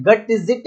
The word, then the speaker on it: Gutzeit: का limit test का apparatus का नाम है गटजिट एपरेटस।